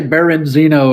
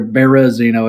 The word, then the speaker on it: Berezino: i'm not tripping but people say baron zeno and there's no n in it but or berezino is how you pronounce it but anyway um yeah